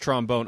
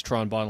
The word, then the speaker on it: Tron Bonne: that game they oh oh it's pronounced trombone okay that makes sense I thought it was Tron bonne like it was a rhyme and she was also in Marvel vs.